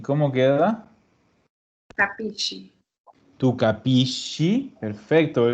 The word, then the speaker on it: capisci: Tu capisci. Perfecto. Ese se hizo en shi. Capisci.